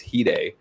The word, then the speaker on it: Hide: And the guitar player, he passed away in 98, but his name was Hyde. But in English, it's spelled Hide.